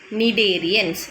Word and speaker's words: Cnidarians: Cnidarians. C is silent. Okay, C is silent there, and you have to read it as nidocytes, nidoblast, okay, cnidaria, etc.